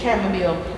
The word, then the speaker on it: chamomile: the middle of the middle west here is chamomile you can put a little chamomile roman chamomile